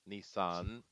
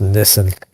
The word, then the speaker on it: Nissan: It's Nissan. Yeah. Uh but uh but yeah, for some reason it's just it's just pronounced Nissen. Even the commercials, I think. Yeah, even in the commercials, it's Nissen.